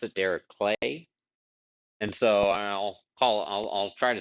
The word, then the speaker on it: Dirichlet: You oftentimes hear it Dirichlet distribution with like an sh. It turns out I believe that he actually pronounced it Dirichlet, and so I'll try to stick to that.